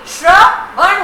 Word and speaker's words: श्रवण: चौथा शब्द है श्रवण, श्र जो है वो हमारा मिश्रित है, स और र को मिलके तो उसका उच्चारण भी श्रवण होगा।